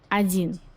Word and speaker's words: один: You write один, you pronounce один. So let's see how do you write it in Russian. Один. Just remember that there is difference in pronunciations and writing in this word.